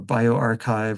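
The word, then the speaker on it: bioRxiv: Uh this is pronounced archive or bioarchchive or tech archive.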